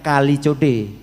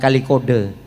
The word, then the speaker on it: Kalijodo: namanya kota nama sungai namun bacanya Kalijodo bukan kali kode saya lagu Saya mau